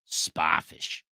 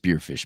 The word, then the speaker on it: Spearfish: Spafish. It's pronounced Spearfish, but Dan's from uh New York.